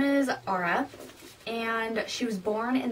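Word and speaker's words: Aria: most of the time, her name's like spelled like A-R-I-A, so I called her like Ara for most of the time, and then I was like, oh wait, it's Ara.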